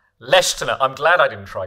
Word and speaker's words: Leschziner: So can you tell us how it's pronounced? Leschziner.